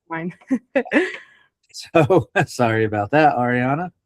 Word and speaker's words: Ariana: I think we probably should have went over this first, but my name is pronounced Ariana. Ariana.